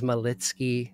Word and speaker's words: Malicki: pronounced and uh my last name is malitzky malitzky is Polish and is from my Ecuadorian mom um I was born at